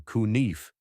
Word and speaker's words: knife: Take knife. Believe it or not, the K wasn't always silent. Long ago, people actually pronounced it something closer to kunife.